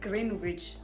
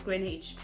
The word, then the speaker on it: Greenwich: actually Greenwich what and it's written as green bridge but they pronounce it as Greenwich and what else I